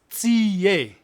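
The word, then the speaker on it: tsie: For instance, a locust in Setswana is tsiye. It's spelled T-S-I-E. Tsiye. Not ti, but tie. Yeah, you mustn't say tsi. It's tsiye.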